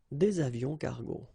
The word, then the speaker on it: des avions cargo: Un avion cargo, des avions cargo. Same thing, S, but then we don't pronounce them.